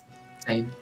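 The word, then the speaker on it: Sejm: the same is that is that how you pronounce that or shame same yeah same okay yeah that's perfect the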